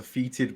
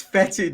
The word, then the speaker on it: fetid: I think in Death Guard, I've heard an American pronounce it as a feeted bloat drone, and it just really irks me. It's like there's an O there. It's not. It's fetid, not feeted.